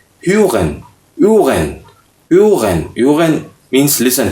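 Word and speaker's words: hören: Listen, to listen, तो इसकी spelling है हा ओ डबल डॉट के साथ, यानी ओ ऑमलाउट, हा ओ एग ए एन, ह्यूगन, ह्यूगन। ह्यूगन नहीं पढ़ते, एच थोड़ा सा साइलेंट रखते तो ह्यूगन, ठीक है।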